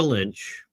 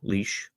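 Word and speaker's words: Lich: In 2022, Tamara Lynch, or I'm pronouncing her name wrong, Leash, and Chris Barber organized a peaceful protest in Ottawa against the plague mandates.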